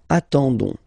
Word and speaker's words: attendons: nous, so O-N-S, okay, you don't pronounce the S, so you get only this on sound, okay, attendons, nous attendons, so we'll